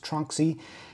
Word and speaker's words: Tronxy: a new 3d printer this is the tron xy sometimes pronounced trunksy x5sa 400 millimeter core